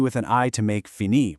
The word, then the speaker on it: fini: For IR verbs, like finir, you just drop the R, leaving you with an I to make fini, pronounced fini.